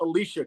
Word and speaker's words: Alicia: It is pronounced Alicia, correct?